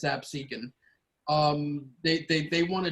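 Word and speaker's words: Absecon: um ab seeking lighthouse some people might pronounce it as the absolute lighthouse but it's absent um they they want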